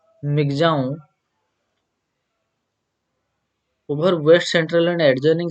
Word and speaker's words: Michaung: said that the severe cyclone storm Michaung pronounced Migjaon over west central and